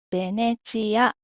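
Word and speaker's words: ヴェネツィア: まずじゃあ最初の方はベです。うん。さっきビがありましたね。バビーベーボの美と同じように発音してくださいって言ったんですけど、ま、これもバビブーベーボのベと同じように発音しても大丈夫です。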